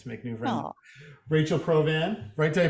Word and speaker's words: Provan: it's always nice to make new friends Rachel provan great day pronounce it correct because they just did you